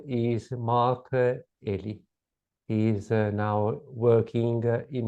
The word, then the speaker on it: Elie: And my surname, is pronounced Elie. Oh, sorry. That's okay. Eli. That's okay. Eli. Lots of people get the pronunciation wrong, but it's pronounced Elie. Mark Elie. I pronounce in the French, either with the French pronunciation, Eli.